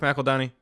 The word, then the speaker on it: McEldowney: She opens the video and says, "This is Brooke McEldowney," and I said, "Oh, that's how you say it."